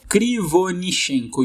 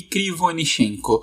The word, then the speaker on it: Krivonishenko: Conseguiu a pronúncia do nome do cara, o outro Yuri? Krivonishenko. Yuri Krivonishenko. Yuri Krivonishenko.